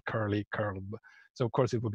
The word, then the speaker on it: curl: pronounce curl it's an it's actually an English word and you call it curl curly curl so of course it